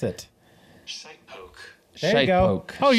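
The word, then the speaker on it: shitepoke: How do you pronounce it? Shite poke.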